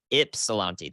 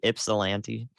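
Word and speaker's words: Ypsilanti: out there it starts to get really loud ipsilanti thank you why is silent Miami ipsilanti oh my God is what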